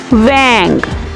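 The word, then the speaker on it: vingt: 20, wang. 20, wang. The last word will be the silent in French, right?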